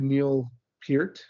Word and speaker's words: Neil Peart: It's very Neil Peart, I learned it's pronounced.